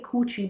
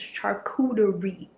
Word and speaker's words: charcuterie: I usually say coochie, but I'm growing. Okay, I'm becoming more cultured. So instead of coochie, it's charcuterie. Like I learned how to pronounce it.